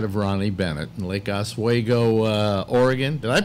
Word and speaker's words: Oswego: Ladies and gentlemen, that smiling face you see before you is that of Ronnie Bennett in Lake Oswego, Oregon. Did I pronounce it? Oswego. Oswego.